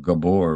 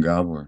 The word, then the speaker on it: Gabor: Actually, people most often mispronounce my first name. They call it Gabor rather than Gabor.